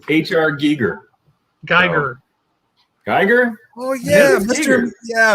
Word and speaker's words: Giger: up a pronunciation um in the germanic languages we have the e and the i like that it's the way we would look at it it's uh the the long vowel of the second letter so it's if it's e i then it's geiger if it were ie it would be gear i am listening to